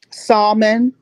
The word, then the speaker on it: salmon: Salmon. Salmon. Salmon. Salmon. I pronounce I pronounce with the L.